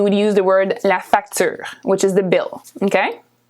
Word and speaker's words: facture: Here we say la facture. La facture. Facture. La facture. Okay, the E at the end again is not pronounced very much.